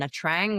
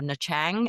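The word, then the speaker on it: Nha Trang: And Natrang was the or Nachang as was supposed to pronounce it.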